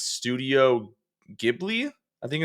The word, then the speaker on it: Ghibli: For I'm going to butcher the pronunciation, but it's Studio Ghibli.